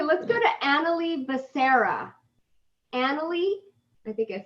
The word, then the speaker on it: Annalie: Annalie, I think I said it right.